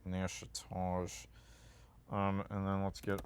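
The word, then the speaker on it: Natchitoches: I used I used to always pronounce it nachotois, but it's like pronounced like Nashage.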